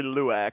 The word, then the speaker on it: Lauck: And I am Lauck, but not pronounced. It's actually Luak, but we're working around the name.